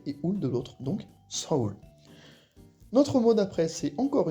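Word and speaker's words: 서울: le U on sait pas trop comment les prononcer mais en coréen c'est bien sa d'un côté et ou de l'autre donc Saou notre mot d'après c'est encore une ville sud-coréenne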